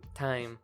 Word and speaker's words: thyme: Time. Thyme? It's pronounced Thyme.